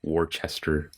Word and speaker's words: Worcester: Every time I read that, I think it's like Worcester, Yeah, that's what everyone thinks. because it's like that's how it's spelled. Yeah. But it's Worcester. Worcester.